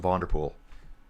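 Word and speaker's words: Van der Poel: I'm going to start using Vanderpool. I like Vanderpool. Vander Vander ser sounds very North American, doesn't it? They're going to hate me for that. But it's pool.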